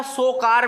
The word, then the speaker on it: Tsokar: तो लद्दाख का सोकार वेटलैंड जो है, TSOKAR, ये लिखिएगा, लिख लीजिए इसको, लद्दाख सोकार इसको बोलते हैं, टी साइलेंट रहेगा।